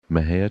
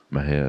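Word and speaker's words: Mexia: theater 923 East Main Maha Texas Maha is spelled m e x i a our ZIP 7666 M&J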